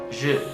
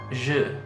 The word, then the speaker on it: je: So it's not J. It's not J. It's kind of like a E and an U, like a je.